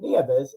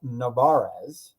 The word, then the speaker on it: Nevarez: keeps saying the others it's not Nieves it's Nevarez so I finally got it